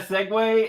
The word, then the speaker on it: segue: Segway is spelled wrong. Are you serious? Yeah, segue.